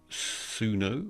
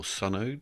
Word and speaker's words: Suno: And the first one that popped up on the list was Suno, or Suno, depending on how you pronounce it.